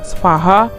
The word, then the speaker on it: Svaha: Tulisannya SVAHA. Bacanya sih gue udah cari-cari, pokoknya bacanya semua kayak Svaha gitu.